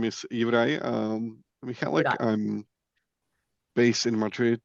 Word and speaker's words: Juraj: Did I pronounce that correctly? Please correct me if So, hi, my name is Juraj Michálek.